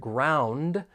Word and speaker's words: ground: ground running for pronunciation keep in mind that a lesion may occur this is when sounds or syllables get removed and it sometimes happens with the T and D sounds when they come between two consonants so that final D